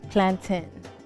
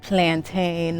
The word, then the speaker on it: plantain: today it's pronouned plon it's plantin like Captain not plantain like I don't know what's